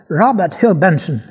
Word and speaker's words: Robert Hugh Benson: Prononce-le à l'anglaise. Robert Hugh Benson.